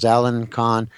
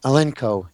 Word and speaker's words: Elenco: and there's several models Alencon elenco anyway elenco I'm sorry I kept pronouncing it wrong anyway you can buy